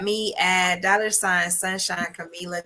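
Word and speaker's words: Kamilah: at dollar sign Sunshine Camilla k-a-m-i-l-a-h that is how you really spell my name but on Facebook it is sunshine k-a-m-e-l-a that's how you pronounce my name but that right there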